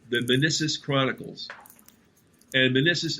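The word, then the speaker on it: Minisis: And Menissus is spelled M-I-N-I-S-I-S, like man ISIS.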